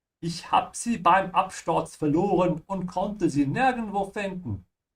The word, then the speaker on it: verloren: Verloren is to lose. Remember to pronounce the V like an F, yeah, verloren. And also notice how I am stretching the O a little bit when I say verloren.